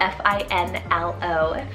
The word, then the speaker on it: Finlo: another great one here is lowe it's called f-i-n-l-o finlo and this one means fair loo which i'm hoping i'm pronouncing right l-u-g-h so lou hope i'm pronouncing